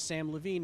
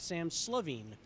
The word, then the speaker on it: Samm Levine: Letters change the pronunciation of names. I said to the crowd, my name is Samm Levine, not Sam Slavine.